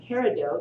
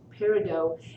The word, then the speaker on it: peridot: pretty pretty gemstone i did not know that peridot that's how it's pronounced peridot is this pretty green but we've been told